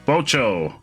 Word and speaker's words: Bocho: There's an O at the end. Bocho.